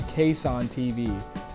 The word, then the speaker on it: KassanTV: even realize till now I've actually been pronouncing the Channel's name wrong the entire time by accident so his channel name is actually case on TV that's his channel name